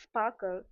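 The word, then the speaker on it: SPARQL: So, sprql pronounced sparkle is the query language for the semantic web.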